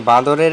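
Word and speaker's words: bather: স্নান করা বলছে আমি তাজব বনে গেলাম একটি বাঁদরের একজন সাধুর কফিন ছো মেরে নেওয়ার প্রতিভা দেখে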